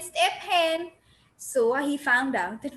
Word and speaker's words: Stephen: I used to read it S-T-E-P, step, H-E-N, hen. Step hen is Stephen.